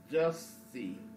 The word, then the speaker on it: Jussie: Say just. Jussie. Thank you. Jussie. Smollett. Yeah, I got the last name. Smollett. A lot of people can't say. Everybody on social media call him Jussie.